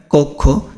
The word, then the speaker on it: কক্ষ: তো এখানে দেখো কক্ষ, এখানে কক্ষ বানানে যে এখানে কক্ষ বানানটা দেখো, খেয়াল করো এখানে দেখো।